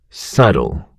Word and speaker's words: subtle: Subtle. Small, delicate, or clever in a way that is not immediately obvious. Features a silent letter B.